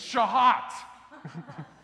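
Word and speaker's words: שחת: Oh, it's shahat. That's how you pronounce it.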